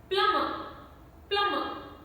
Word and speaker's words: plumber: And plumber, B is silent.